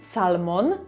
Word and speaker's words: salmon: I tutaj to L nie jest wymawiane. A końcówkę m o n chcemy mówić jako mon salmon, tylko salmon. Salmon.